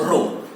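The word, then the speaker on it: ρ: add is this okay this is pronounced as rho so we get r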